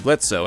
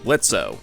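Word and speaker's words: Blitzø: most parents aren't like blitzo at least I hope most parents aren't like blitzo it's the O is silent we do get to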